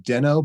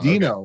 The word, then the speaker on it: Deno: some people pronounce it Deno but they're wrong because Dino like the dinosaur like the dinosaur perfect I think Ryan doll